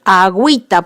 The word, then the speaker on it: agüita: se pronuncia la y para que se pronuncie está u hay que ponerle la diéresis es decir dos puntitos sobre esa o para decir agüita por ejemplo a huy está pongo la diéresis en la uv y voy a pronunciar esa vocal y por lo tanto formaría un diptongo mi cuarta regla es